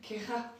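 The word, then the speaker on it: querrá: C'est double R. Oui mais c'est quera. Très bien, quera. Alors c'est plus quera, mais ouais. C'est pas mal. C'est genre un gros roulement quoi.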